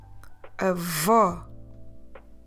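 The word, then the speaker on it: avó: lips round and forward I don't want you to close the vowel at the end there's no o sound anymore now I want you to open your mouth so we can pronounce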